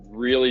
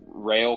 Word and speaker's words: Real: coming back, with Bryce Rail coming back. I might have pronounced that wrong. It's just Real. God. Bryce Real.